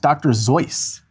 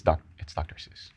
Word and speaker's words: Dr. Seuss: Dr. Seuss, a lot of people got that one right. I think actually it's pronounced Dr. Zeus. No, it's not. It's Dr. Seuss.